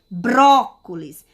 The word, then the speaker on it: brócolis: Brócolis. Vocês observam que vocês chamem a palavrinha para vocês terem entendimento. Vou chamar, ó, brócolis. Então, você vê que a sílaba mais forte, mais intensa é a sílaba bró.